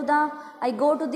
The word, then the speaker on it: the: आई गो टू द model school, मैं model school में जाता हूँ। यहाँ बेटा ये आर्टिकल है हमारे पास। ठीक है, इसको 2 टाइप से प्रोनाउंस किया जाता है, द और दी।